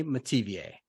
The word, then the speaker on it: Metivier: Welcome to the John freaking Muir Pod, Renee Metivier. How's it going, Renee? It's going good. Hi, everybody. Did I get that last name right? You did very well. Metivier, okay. Like Perrier.